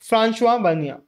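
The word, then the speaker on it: François Bernier: फ्रांस्वा बनिया हां भाई फ्रेंचमैन है इनका प्रोनंसिएशन यही है आप स्पेलिंग याद करने के लिए फ्रेंक फ्रेंक इनको कर सकते हो लेकिन इनका एक्चुअल जो प्रोनंसिएशन है वही हम इस चैप्टर में यूज कर रहे होंगे इनके नाम को थोड़ी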